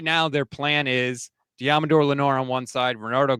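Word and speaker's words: Deommodore: How do you pronounce his first name? Diamador.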